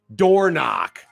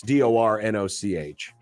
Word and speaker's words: Dornoch: Door Knock. It's Dornoch. I'm sure it's pronounced like Dornoch.